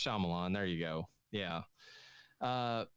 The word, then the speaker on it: Shyamalan: uh i looked his i looked up pronunciation this is shyamalan isn't it it's shyamalan there you go yeah